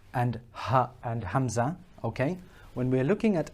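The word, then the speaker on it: ء: Now, when we are looking at alif and ha and hamza, okay? When we're looking at alif and hamza, please note that these two are pronounced from the bottom of the throat, okay?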